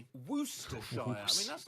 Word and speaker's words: Worcestershire: Worse. Upside down E. Worcester. Worcestershire. With the main stress on woos. Skip pronouncing the first R altogether and the CE while you're at it, and barely say the second R.